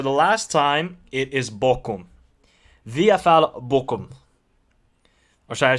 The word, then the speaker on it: Bochum: Look, people, it is, for the last time, it is Bochum.